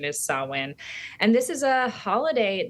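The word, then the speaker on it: Samhain: so Halloween is a holiday that we call sawin it looks like it's spelled Sam Hayne and some people pronounce it that way but the old pronunciation is sowin and this is a holiday that essentially celebrates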